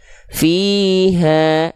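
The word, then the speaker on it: فيها: Nah, sekarang h-nya dibaca berapa harakat? Sudah kita bahas tadi ya. Karena fathahnya di sini bertegur sapa dengan si alif ya, maka dia dibaca dengan kadar panjang dua harakat ya. Sama seperti tadi kasrah ketemu ya sukun. Nama hukum tajwidnya mad thobi'i. Maka cukup kita lafalkan dengan dua kali kadar dua kali pelafalan ha-nya.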